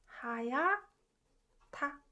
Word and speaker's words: 하얗다: So 좋다, this verb is pronounced 좋다. And this one as well, 하얗다.